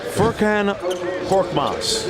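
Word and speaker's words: Furkan Korkmaz: two games in the tournament folks listen closely firkin pork box he told me that's how you pronounce it and we were saying it early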